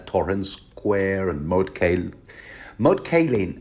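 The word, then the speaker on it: Moat Cailin: square and mod kale mod Kin I'm told it's actually pronounced M Khan I read that somewhere in the wiki ice and fire but yeah you're going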